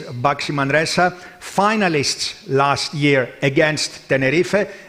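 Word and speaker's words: Baxi Manresa: one team front but let's make sure we know how to pronounce boximandresa and it is boxy Manresa finalists last year against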